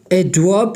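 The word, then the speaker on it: adverb: है एडवर्ब ठीक है एडवर्ब ये आर साइलेंट है एडवर्ब इसके बाद हमारे पास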